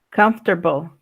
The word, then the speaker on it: comfortable: Pero no de la forma larga como a veces lo leemos completo y entonces lo leemos como en español, comfortable. Todas las sílabas en español lo leemos. And right there, you don't need to read them all, okay? Just read the ones that I showed you. It's 2 syllables only, okay?